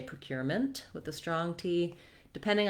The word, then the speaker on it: procurement: vowel then we have the same pattern in procurement with the stress again on cure and we just have to add the mint syllable here we have voww for letter e you can almost say it with no vowel at all move very quickly from the m to the N mint procurement you'll also